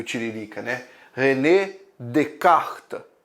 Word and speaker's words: Descartes: Descartes mas não é discais que você não tá jogando baralho para descartar esse s e no francês é mudo e aí fica uma